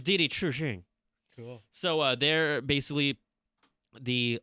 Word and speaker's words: Didi Chuxing: Didi Chuxing? Chuxing. Like, Chuxing? It's not Dai Dai Chuxing. It's Didi Chuxing.